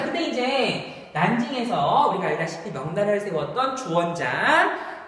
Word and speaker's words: 난징: 자, 난징, 이거 중국 발음이거든. 한자 발음으로 하면은 남쪽의 서울이라는 뜻으로 남경이라고 부릅니다.